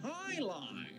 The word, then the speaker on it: Jai-Alai: What the heck is Jai-Alai? It's pronounced High-Lie.